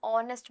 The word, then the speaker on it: honest: An honest boy. Why? H is silent and the sound is of a vowel, an r.